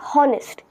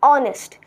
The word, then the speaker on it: honest: its pronunciation is not honest it is honest so we silent the H and if we are